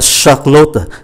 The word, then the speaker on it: Charlotte: Dạ em tên là Charlotte. CH là âm S. Âm S. S rất là mạnh.